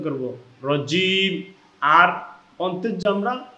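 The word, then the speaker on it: رجيم: আউজুবিল্লাহ এখানেও আমাদের এক আলিফ টান আর সাইতনির রজিমে এখানেও আমাদের এক আলিফ টান।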